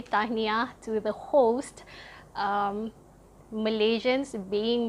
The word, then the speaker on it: Tahniah: So that's how you spell it, and the pronunciation is really straightforward. It's Tahniah. Tahniah. Okay, and after you say Tahniah to the host, Malaysians, being Malaysians, the first